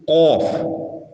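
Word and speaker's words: قاف: அதே போன்று நாவும் முரசும் சேர்ந்து உச்சரிக்கக்கூடிய எழுத்துக்கள், அதில் முதலாவது ஆஃப். இது நாவின் இறுதி, அதற்கு நேரே உள்ள மேல் முரசி, அதாவது குட்டி நாக்கில் படும்போது வெளியாகும் எழுத்தாகும்.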